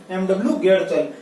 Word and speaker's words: Getchell: और जेडी यानी जे Dorcas fellows के साथ एक और जुड़ गया था, एमडब्ल्यू गेटचल। तो यहाँ पे GETCHELL स्पेलिंग आपको दिखाई नहीं दे रही, बोल देता हूँ, MW GETCHELL गेटचल।